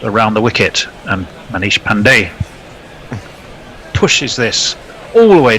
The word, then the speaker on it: Pandey: the Wicket and Manish Pandey pushes this all the way down the ground through long on for one of these emphasis I'm told from The Green Room being on the first syllable Pandey well he got straight